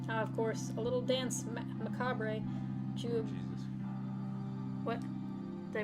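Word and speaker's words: danse macabre: Ah, of course, a little dance macabre to... Jesus. What? Did I pronounce it wrong? Yes. How do you say it? It's like Okay. I believe it's dance macabre.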